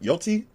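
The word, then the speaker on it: Yōtei: Ever since Ghost of Yoti, that's how you say it, came out, or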